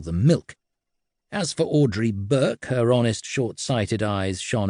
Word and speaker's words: Burke: more commonly known and Audrey Burke to rhyme with Burke.